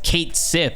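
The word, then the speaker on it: Cait Sith: bitching about me saying catchy and saying that it's cringe it's not the way to say it you're saying it wrong it's Kate Sith and I'm like damn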